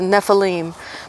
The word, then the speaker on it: Nephilim: Nephilim actually is the Hebrew pronunciation of that Hebrew word. Actually, I'm trying to change the way I say it. It's Nephilim, the giants from the biblical thing.